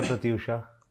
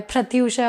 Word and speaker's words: Pratyusha: देखो, बैंगलोर में थ आ जाता है, प्रत्युषा हो जाता है। प्रत्युषा, हाँ, यहाँ कोलकाता में अलग प्रोनाउंसिएशन है, वहाँ पे प्रत्युषा है।